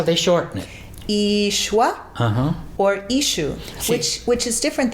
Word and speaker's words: Yeshua: We say there's several ways to say it, either complete or shortened. We say Yeshua. Yeshua. That's because of the I at the end. Or some of them shorten, just say Ishu.